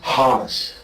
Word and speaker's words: Hamas: Khaled is a Hamas supporter. Okay? Who supporter? Hamas.